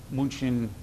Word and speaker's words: München: The München, German pronunciation for the anglicized Munich.